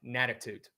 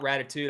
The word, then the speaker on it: Natitude: You better spell it right. Natitude. Not Ratitude. I'm talking about Natitude. A lot of Ratitudes already. With an N.